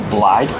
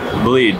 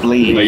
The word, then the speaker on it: Blied: you got it Mitchell blide bleed bleed yeah it's spelled like blide so I get that a lot yes all right